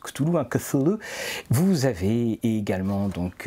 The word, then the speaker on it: Cthulhu: On nous rappelle comment se prononce Cthulhu, hein, Cthulhu.